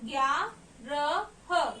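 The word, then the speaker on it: ग्यारह: number in Hindi as G ko ya ki matra, a ki matra, gya, ra, ha, gyarah. In English I mention it as GYAARAH, gyarah.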